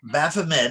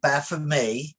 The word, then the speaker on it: Baphomet: before me yes uh baphomet is what americans say it's really baff of me yeah jean de liver